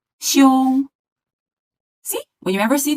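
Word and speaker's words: 休: Well, the sound is sh, I, u, xiu, and it goes like the first tone. It's called xiu, xiu.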